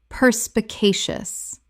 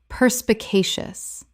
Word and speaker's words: perspicacious: Perspicacious. Correct pronunciation. Perspicacious. 5 syllables with the stress on the third, meaning having a ready insight into things.